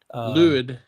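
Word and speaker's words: Lwyd: I think it's pronounced Mary Laid. Mary Lad Luid. Lid. It sounds like the word Lloyd.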